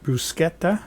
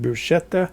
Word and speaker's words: bruschetta: Okay, and by the way, some people pronounce it bruschetta, some pronounce it bruschetta. According to my food encyclopedia, both pronunciations are correct.